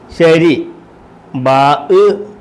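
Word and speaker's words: شربوا: Gusset വരുമ്പോൾ രീ എന്നുള്ള ഉച്ചാരണമാണ്. മളം അരി എന്നൊക്കെ ഉള്ള രാ എന്നുള്ള രി. ഷീന് ഷ റാ രി. എഴുതിയേക്കുന്ന റീ എന്നും പറയേണ്ടത് രീ എന്നും. എഴുതിയേക്കുന്ന റാ റീ എന്നാണ് എഴുതിയേക്കുന്നത്, പറയേണ്ടത് രീ. ഉണ്ടോ?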